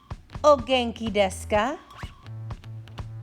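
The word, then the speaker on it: お元気ですか: let's try how are you how are you oh genki deska ogenkideska oh genki deska now you try good use the pronunciation guide on the left to help you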